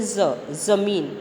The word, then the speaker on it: ज़मीन: है तो इसको बोलेंगे ज़मीन। ओके, इसी तरह से ये गाजर, और यहाँ जा पे बिंदी है तो इसको बोलेंगे ज़िद। ओके, जाड़ा, ज़मीन, गाजर, ज़िद, अंतर आ रहा है ना उच्चारण में।